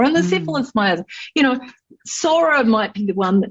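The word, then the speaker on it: psora: the syphilis you know sora might be the one that nobody questions too much but some of the others even psychosis you know yeah it's spelled with a p yeah whenever i prescribe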